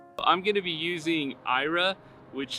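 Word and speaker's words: Aira: service Ira 14.40 I'm going to be using Ira which says is spelled a i r a it is a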